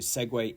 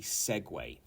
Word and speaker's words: segue: used a joke to segue into the next topic it's not a s segu or a segui or anything it is a segue and a segue might